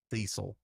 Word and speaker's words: Cecil: yes, Cecil.